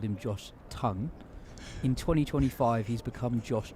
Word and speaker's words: Tongue: 2023, everyone called him Josh Tongue. In 2025, he's become Josh Tong. I believe he pronounces it Josh Tongue. So, I think it's just pronounced how you say the word tongue.